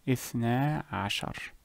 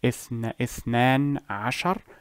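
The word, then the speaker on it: اثنا عشر: The reason the noon was removed is to make the pronunciation smoother and easier, to make us for a smoother transition from this word to the next. Instead of saying اثنان عشر, اثنى عشر.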